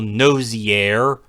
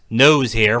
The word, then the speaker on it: Nosier: now gets missions from Colonel Nosier, which everyone mispronounced nose hair for the sake of a running gag.